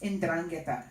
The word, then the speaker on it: 'Ndrangheta: Yes, 'Ndrangheta. It's spelled apostrophe Ndrangheta.